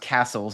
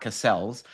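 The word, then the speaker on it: Cassell: So Castle, C A S E L L, which I was told is pronounced Castles and not Cassels.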